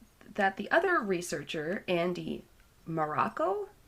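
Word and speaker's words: Marocco: the other researcher andy morocco it's spelled like morocco but m-a-r-o-c-z-o he read and then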